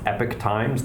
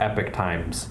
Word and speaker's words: Epoch Times: I found an article I think it's pronounced epic Times The Epoch Times EPOC H I think that's right